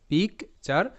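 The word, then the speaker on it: picture: যেমন শব্দটা আছে কি পিকচার, পিআইসি, pick, T ইউ আর ই, চার, দুটো পার্ট, পিক চার, পিকচার।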